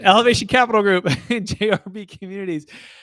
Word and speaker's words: Elevation: including MHC America evolation C evolation EV EV pronounce El yeah no it's a hard elevation elevation Capital group in jrb communities and so much